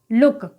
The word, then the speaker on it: look: तो यहाँ पर आप देख सकते हैं LOOK, तो यहाँ पर डबल O के बाद K आया है, तो यहाँ पर डबल O का उच्चारण क्या है, ऊ है, यानी कि शॉर्ट साउंड होगा। तो LOOK, तो इसको हम क्या पढ़ेंगे, लुक।